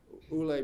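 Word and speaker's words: Uhle: his name was MOX Ule um Ule being the common Spanish pronunciation and he excavated at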